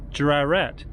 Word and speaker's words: Jrarat: in a go going to a village called jurarat um it's spelled j-r-a-r-a-t and it's actually on uh it's